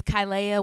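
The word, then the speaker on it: Kilaiah: I appreciate that yes so my name is kyia once again um you can follow me on Instagram it's spelled k i l a i a h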